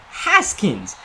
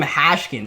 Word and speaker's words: Haskins: offense, along with Dwayne Haskins. Let me make sure I pronounce that one correctly. Haskins. Alright, I've done 2 Madden videos so far with Dwayne Haskins in. And I keep on calling him Hashkins.